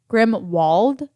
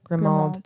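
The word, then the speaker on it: Grimmauld: park near grimald Place how do you pronounce that grimald grimwald I'm pretty sure and if I'm wrong all the har poter fans are screaming at me right now there's no W I know grimal grimald no it always sounds like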